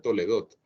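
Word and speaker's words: תולדות: La palabra orígenes, tal como está puesta aquí en hebreo, se pronuncia Toledot, pero viene de la palabra Toledá.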